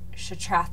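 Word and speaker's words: Shattrath: Why do I pronounce Shatrath that way? It's pronounced Shatrath, not Shatrath.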